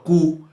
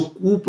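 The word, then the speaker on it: coup: Neither the minister NOR the intelligent sources was aware of द कू being planned in the country. देखिए इसको कूप नहीं बोलेंगे, इसका pronunciation कुई है।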